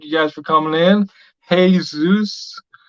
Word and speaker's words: Jesus: Hey, Zeus, for those are wondering how to pronounce it.